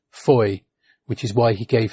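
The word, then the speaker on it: Fowey: it's spelled Foy but it is in fact pronounced Foy which is why he gave his fictional town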